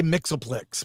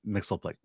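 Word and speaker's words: Mxyzptlk: question, according to comics/show/cartoon, his name is pronounced Mix-Yell Piddleflick. Piddlelick. Mix, yes, Piddlelick, Mixel. I always just say Mixelplix, but thank you, thumbs up. You know, Super Friends pronounce it Mixelplick.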